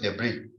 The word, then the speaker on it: debris: police it's the brave the s is uh silent so it's debris so to remove it